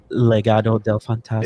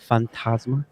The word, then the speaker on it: Legado del Fantasma: How you pronounce that last name? What's his name? Legado del Fantasma. It said, wait, one more time. Fantasma.